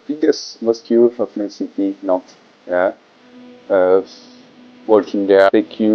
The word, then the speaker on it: Nantes: Today let's talk about Friday prayer, friendships, in Nantes, but actually you pronounce it Nantes.